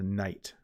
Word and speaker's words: night: The G, though, is silent in the middle of words sometimes, right? Like the words sign or night. Those would be two where it's a little more silent.